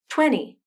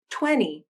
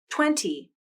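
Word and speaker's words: twenty: t sound listen again 20. internet wanted i didn't pronounce the t sound instead i used what is called a nasal flap which is essentially when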